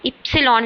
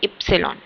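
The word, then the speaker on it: Ypsilon: ऐसे इस लेटर को हम इप्सिलॉन लिखते हैं। ठीक है? मतलब इस लेटर का मेरे को नाम लेना है तो मैं क्या लूंगी? इप्सिलॉन।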